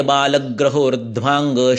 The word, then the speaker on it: बालग्रहोर्ध्वांग: काय बालग्रहोर्ध्वांग शल्यदंष्ट्राजरावृषान। ग्र ये संयुक्त अक्षर है, जोड़ाक्षर है, इसलिए उसके पहले वर्ण पर जोर आता है।